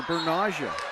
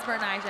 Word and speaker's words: Bernicia: Okay, and we heard from the coach earlier, Bernasia. Yes, it is Bernicia, and I said it wrong. Okay, I'm saying Bernasia is what we heard.